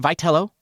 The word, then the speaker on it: Vitello: I mean, it's spelled Vetello. It is. And you know, it might be Vetel. You know that's how it's spelled for Italians, Vo. But no, it's pronounced Velo by Tony or at least by all the